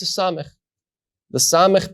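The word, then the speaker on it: ס: Well, as you look at these two letters, on the right side you will see samech, which we pronounced sa, and on the left side we have the final form of the letter mem, which we pronounced ma.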